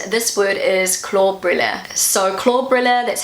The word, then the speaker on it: Klobrille: So Klobrille, that's how I pronounce it.